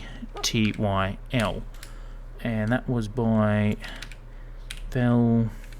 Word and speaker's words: pterodactyl: P, because it's silent. Terodactyl.